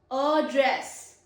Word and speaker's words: address: Address. It is a verb because it has stress on second syllable.